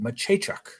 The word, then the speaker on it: Machachuk: That's how you pronounce it, Machachuk. No kidding. It doesn't look anything like that.